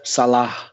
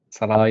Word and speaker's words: Salah: And the correct pronunciation as well of Salah. Salah, yeah. Well, that's something we'll have to all correct ourselves. Not Salah.